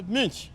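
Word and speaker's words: Münch: It has an umlaut, so I must pronounce it as Munch.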